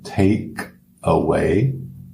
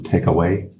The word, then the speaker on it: take away: Note a pronúncia take away. A gente junta tudo take away.